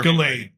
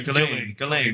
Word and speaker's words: Ghislaine: Ghislaine, not Giselle. Giselle. Sorry, Ghislaine.